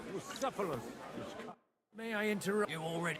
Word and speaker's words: Bucephalus: What kind of name is Bruce Phallus anyway? It's pronounced Bucephalus.